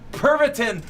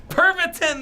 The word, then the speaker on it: Pervitin: far as we ramble no pervitin perviton that's it people thanks greg to be like 20 or 30 right it's three syllables i knew it had